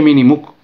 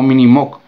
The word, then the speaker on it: Minimoog: Se pronuncia realmente Minimuk, no Minimok. No me expliquéis por qué, pero bueno, esa es la realidad.